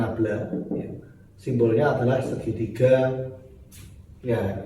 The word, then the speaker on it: nabla: Ini cara membacanya nabla.